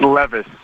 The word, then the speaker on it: Levis: pronounced three different ways tell me how to say your last name a hundred percent correctly it's levis will levis there we go uh